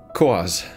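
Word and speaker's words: quoz: Quas, a noun, both singular and plural, referring to anything strange, incongruous, or peculiar. At its heart is the unknown, the mysterious. It rhymes with Oz.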